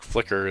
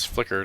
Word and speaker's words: Flickr: Most people probably would pronounce it Dapper, just like Flickr is Flickr, not Flick-R.